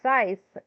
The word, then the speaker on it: Scythe: It's called Scythe. And she calls it Sky. Um, but I can't hate on it. Usually when people mispronounce words like that that we generally know, it is because they have only learned them from reading them and not from actually hearing them.